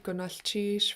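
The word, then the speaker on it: gunalchéesh: I like to break down words by syllable. So starting with the CH, you can repeat after me. Chish. Cheese. Sheesh. Right before chish, we have a Lingit L.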